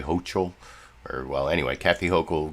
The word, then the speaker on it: Hochul: now to the governor of New York Kathy hokel good morning to you governor oh I guess I mispronounced it's Kathy hokel though did I say hochul or well anyway Kathy hokel governor of New